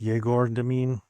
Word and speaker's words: Egor Demin: So, yes, it's E G O R is how the name is spelled, but it's pronounced Jagor Dean, just so you know.